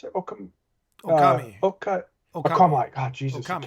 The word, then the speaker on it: Okami: It's the how do you pronounce it? Okami.